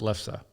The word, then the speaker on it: lefse: I mean, if you look at it, that's how it's spelled: Lefsse. Yeah. So it looks, but it's lefse.